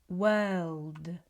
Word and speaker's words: world: This is the dark L. So, we have W D world.